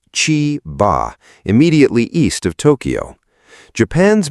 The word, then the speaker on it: Chiba: On Thursday, August 13th, 2026, an extraordinary rainfall event settled over Chiba, pronounced Chee-bah, immediately east of Tokyo.